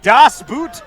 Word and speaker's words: Das Boot: to the fans screaming Das Boot over my shoulder right now yes that's what it was that's how you say it in German correct Josh boots to